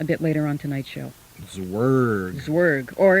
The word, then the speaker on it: Zwerg: later on tonight's show zwerg or if we pronounced it properly with the right german accent we'd probably say it's verg swag no the w would be more v-ish try it one more